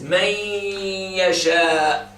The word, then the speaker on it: man yasha: This is man yasha. When you say man yasha, the noon has been gone completely. You don't pronounce the noon at all.